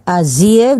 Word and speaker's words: Azië: Ik ben Arman, ik ben in Azië, Azië dibacanya ada terima itu menandakan bahwa I dan E-nya tidak dibaca sebagai I tapi terpisah.